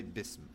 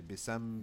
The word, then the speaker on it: bism: Okay, bism. So bism, I don't say bisam, bisim, busum, bism.